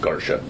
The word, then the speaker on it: Garcia: And just confirming it's everyone it's spelled Garcia but pronounced Garsha.